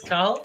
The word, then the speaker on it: Cathal: So my name is Cathal.